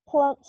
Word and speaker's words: plump: She has plump cheeks. Es una I, Daliana. Cheeks. Sorry. Okay, repeat. She has plump cheeks. Okay. This word has the M and the P. So you have to pronounce it.